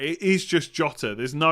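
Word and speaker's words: Jota: do you mean yeah i definitely pronounce jotter it's jotter nothing more to it um is there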